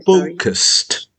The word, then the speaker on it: focused: The time either is so f f I'm focused focused focused focused only two syllables. Focused focused.